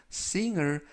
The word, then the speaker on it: singer: 이때 발음의 유의하실 것은 중간 부분에 있는 알파벳 g 무음이라 발음이 되지 않습니다 그래서 싱이 아니고 싱이